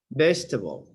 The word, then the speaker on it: vegetable: Vegetable. Vegetable. Okay, please listen and repeat the words. Page 23. 3. Speaking naturally. Silent syllables.